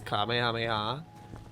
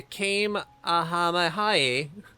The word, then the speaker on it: Kamehameha: The came ahamahai. It was really funny. Yeah, you can just look up clips of streamers mispronouncing, Fortnite streamers mispronouncing Kamehameha.